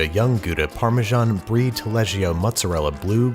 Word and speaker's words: Gouda: It's pronounced Gouda, but yeah, Gouda.